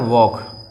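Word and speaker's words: walk: में लिखा जाता है वॉक ठीक टोक ठीक इसमें जो एल जो है साइलेंट रहता है एल जो है वह साइलेंट रहता है तो उसका उच्चारण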